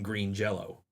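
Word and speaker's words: Green Jellÿ: It has always been Green Jello. It is spelled with a Y, but it's got an umlaut over it, and the umlaut makes the Y an O for some reason.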